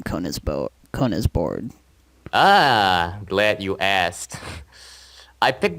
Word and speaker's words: KonisBored: I picked the name KonisBored because it's an abbreviation of my first name, Kon. That's not actually my actual first name, but it's an abbreviation, so it's pronounced literally Kon is bored.